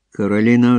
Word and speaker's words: Каролі: Дівчина зробила наголос на «о».